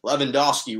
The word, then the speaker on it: Lewandowski: uh byron munich's robert lewandowski lewandowski really is how they pronounce it but i don't have the thick accent was the fifa men's